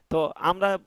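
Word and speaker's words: ت: আপনার দেখা গেছে সেমিকলন এল কে জে এগুলো তারা একটা হিসাব করেই লিখছে যে কিভাবে এটা সহজ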